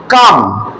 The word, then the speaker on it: calm: The night, night মানে রাত্রিবেলা, ওয়াজ মানে ছিল, কাম CALM, এল এর উচ্চারণটা হয় না, এর উচ্চারণটা হবে কাম, অ্যান্ড কোয়াইট।